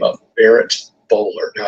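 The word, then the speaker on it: Boulware: the name of Barrett bowler now it's spelled uh bware but in South Carolina where we pronounce everything a little crazy it's pronounced bowler but this is a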